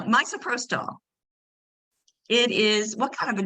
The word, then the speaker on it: misoprostol: Mr. Protol. Actually, it's pronounced miso. I like miso because I like miso soup. No, misoprostol.